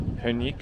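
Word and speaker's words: Perník: So now we're about to go into a Punik shop. I think it's pronounced Punik, which is, I think, well, it's Czech for gingerbread.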